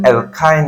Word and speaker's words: অ্যালকাইন: এটা হচ্ছে অ্যালকিন এরপরে অ্যালকাইন মূলক দেখো অ্যালকাইন অ্যালকাইন আইন আইন উচ্চারণ হবে শেষে আইন উচ্চারণ হবে